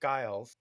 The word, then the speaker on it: Giles: Gil, Gil, Gilgan, Gilgian, Gills, uh, Ilgen, and Gilg. So, so Giles is the most normal pronunciation we've got.